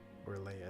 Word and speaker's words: Orlea: Or Leia is how you say her name.